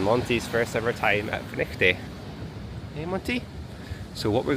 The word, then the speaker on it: Findochty: of Findochty, or Findochty as it's spelt, but Findochty as it's pronounced.